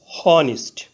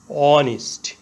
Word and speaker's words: honest: প্রথমে এইচ ধরে উচ্চারণ করলে হয় হনিস্ট, কিন্তু এইচ এর উচ্চারণ না হয়ে ভাওয়েল ও থেকে উচ্চারণ শুরু হয়েছে অনিস্ট।